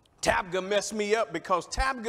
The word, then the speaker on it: Tabgha: We went to a place called Tabgha. Tabgha messed me up, because Tabgha is a place.